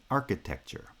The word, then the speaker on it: architecture: feet but this time primary stress is on the first syllable because it's the strong syllable in the strong foot which is now the first foot the third syllable still has stress because it's the strong syllable of the foot but it's the strong syllable of the weak foot so it gets secondary stress architecture introduction architecture now